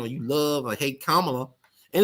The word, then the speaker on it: Kamala: you love or hate Kamala and it's funny how people can't say her name right it's Kamala not Kamala it would be Kamala if she was black it would be Kamala but she's Kamala you know kamot this